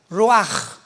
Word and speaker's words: ruach: hebreo es como suena ruach r Raúl u a c h pero la ch en el hebreo se pronuncia como J raj es la palabra para